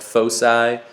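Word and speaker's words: foci: has two centers uh I think that's actually technically pronounced fosi I'll probably call it folai fuky I don't know all sorts of weird fosi uh it's the plural of uh Focus okay so like that's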